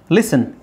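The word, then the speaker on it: listen: ಮಾಡ್ಕೊಂಡಿರೋದು asthma osmotic asthma ಲಿಸನ್ ಇಲ್ಲಿ T silent ಆಗುತ್ತೆ ಲಿಸನ್ ಫಾಸನ್ ಇಲ್ಲಿ ಟಿ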